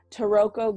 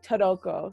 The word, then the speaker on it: Taroko: The main thing to do on the East Coast is called Taroko Gorge. They don't say it like that. They say Taroko.